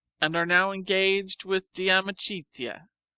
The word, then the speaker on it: De Amicitia: We've finished Livy and De Senectute, and are now engaged with De Amicitia, pronounced Damicitia.